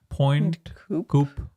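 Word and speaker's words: Pointe Coupee: Go down to Point Coop Parish.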